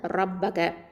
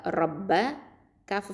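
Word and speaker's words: رَبَّكَ: அடுத்தது ரப்பக, ரா ஃபத்ஹா ஷத்தா, ரப்ப ஃபத்ஹா ரப்ப, காஃப் ஃபத்ஹா க, ரப்பக. இந்த ரா அப்படிங்கிறது ஹெவியாக நம்ம உச்சரிக்கணும்.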